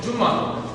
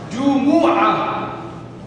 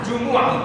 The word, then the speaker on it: Jumu'ah: Some people, they call it Jummah. The Indians, right? They put a shad on the mean Jummah.